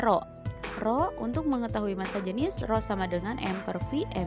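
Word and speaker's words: ρ: ya jadi ke ini dinamakan dengan Rocky bacanya roh-roh untuk mengetahui massa jenis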